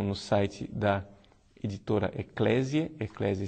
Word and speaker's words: Ecclesiae: Eclésia se escreve ECCLESIAE.